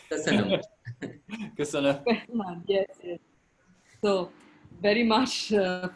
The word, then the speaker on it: köszönöm: Köszönöm. Köszönöm.